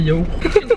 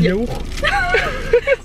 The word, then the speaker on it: yaourt: Tu prononces pas le T à la fin? Mais tu dis les yaourts? Oui. Moi je dis les yaourts. Un yaourt à la fraise. Et si? Un yaourt. Un yaourt? Mais non. Ouais, attends, ouais, je pose des questions. Vas-y, Ouais. vas-y. Vous dites yaourt ou yaourt? Vous prononcez le T, non?